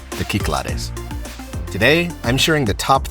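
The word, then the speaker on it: Κυκλάδες: Or, if you prefer the Greek pronunciation, the Cyclades.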